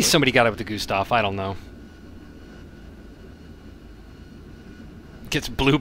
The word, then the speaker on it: Gustav: Gustav? How do I pronounce it? I say Gustav. G-U-S-T-A-V. Like it's spelled.